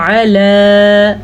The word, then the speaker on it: عَلَى: الا پڑھتے ہیں تو آپ غلط پڑھتے ہیں، اعلا بھی پڑھتے ہیں تو اس کو غلط پڑھتے ہیں. آپ نے پڑھنا ہے عَلَى عَلَى.